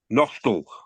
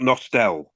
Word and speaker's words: Nostell: Beverly Town beat no I've been told how to say it properly nostal not nostell nostal another good crowd there